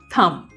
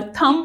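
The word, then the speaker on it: thumb: एच यू एम बी थंब। इसी तरह से एन यू एम बी नम। इसमें नम ब नहीं बोलेंगे। इसे बोलेंगे नम। और थंब ब नहीं बोलेंगे। थंब नम।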